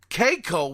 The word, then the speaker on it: Kakao: 13.5% they own in Keiko, which is spelled Kakao, who developed Black Desert, which made over $1 billion gross in sales last year.